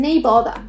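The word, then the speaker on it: nae bother: Otra frase que se escucha mucho acá, es el neighbor. Neighbor. Que se escribe N-A-E, uh-huh, que es el no worries. Claro. O no hay problema. No bother. No hay problema, pero acá lo dicen neighbor.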